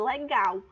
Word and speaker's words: legal: Tenta chamar legal, por exemplo, como se legal estivesse bem longe. Legal! Então, o que é que eu vou utilizar mais força aí? O gal.